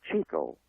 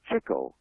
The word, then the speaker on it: Chico: about Harpo and Cho most people say Chico but it's not the pronunciation it was Cho and the reason for that was he was always chasing chicks in movies oh it's you uh